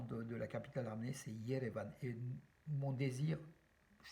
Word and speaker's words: Yerevan: donc qui s'écrit aujourd'hui Erevan, qui n'a, qui n'est absolument pas fidèle à la prononciation arménienne de Yerevan, voilà, que d'ailleurs les Anglais donc, et les Américains donc, écrivent Yerevan avec un Y, voilà.